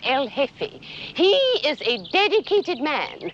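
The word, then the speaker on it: el jefe: The J is silent. El hefe.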